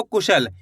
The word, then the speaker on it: कुशल: इसी तरीके से पढ़ना है आपको कुशल। ऐसे नहीं पढ़ना है। कुशल का पे जोर नहीं लगाना आपको। अगर आप का पे जोर लगाओगे तो गलत शब्द का उच्चारण हो जाएगा।